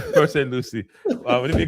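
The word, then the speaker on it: Port St. Lucie: Luchi or or um West Palm. I love how you say Port St. Lucy. Luchi. Luchi. Port St. Lucy.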